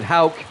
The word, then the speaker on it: Houck: The PA announcer pronounced it Houck.